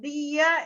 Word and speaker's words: día: está, día es una palabra grave porque se acentúa en la penúltima sílaba. No debería llevar tilde porque termina en una vocal A, que es la terminación obligatoria, pero lleva tilde porque hay justamente hiato entre la I y la A.